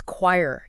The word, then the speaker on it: choir: So where does choir get its sound? It's from Greek originally and it kept that Greek K sound. So Lisa pronounces it. Choir. Like K W I R E.